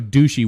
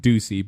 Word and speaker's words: Ducey: to tell you and that's not how you say it Adam no you pronounce it Ducey but Doug douchi one